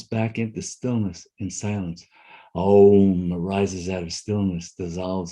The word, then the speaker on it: Om: And in fact, Om is comprised of 4 syllables or 4 sounds. One is not a sound, it's silence. The Ah, the U, the M, and then the silence.